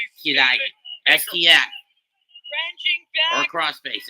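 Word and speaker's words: 嫌い: For those wondering what the word of hate is in Japanese, it's pronounced Kirai. Kirai.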